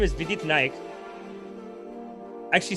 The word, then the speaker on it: Naik: It's just like Vidit Naik. I know his name is Vidit Naik. Actually, sometimes I don't know how to pronounce Naik. Sometimes I'm like Naik, not Naik. I think it's Naik.